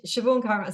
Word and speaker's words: Siobhan: no no it's fine so it's shioon so I'm on um